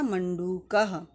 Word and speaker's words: मंडूक: पर पुल्लिंग है मंडूक सही उच्चारण होगा इसका मंडूक मस कह द्विवचन में